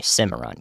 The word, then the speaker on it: Cimarron: going to cover all night Cimarron Cimarron okay Cimarron got it it was a more of a